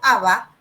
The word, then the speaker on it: Abá: Eh, Vieron ustedes que los guaraníes o Abá, pronunciado Abá, según su autodenominación étnica original,